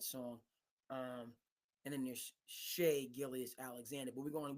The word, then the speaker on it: Shai: I see his name it's pronounced Shay but it's spelled Shai and those 80s babies